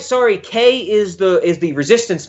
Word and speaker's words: Kei: those all these pronunciations Kay key I think it's just Kay Kay yeah Kei right yes yes yes yeah but